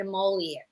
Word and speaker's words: emollient: And I hope you already did this, but you want something a little richer, thicker, and you want more of an emollient.